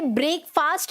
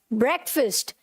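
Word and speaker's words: breakfast: आपने बोला ब्रेकफास्ट, कोई बात नहीं, फिर मैंने आपको करेक्ट प्रोनाउंसिएशन बताई, राइट, कि आपको इसे ब्रेकफास्ट नहीं बोलना, क्या बोलना है, ब्रेकफास्ट।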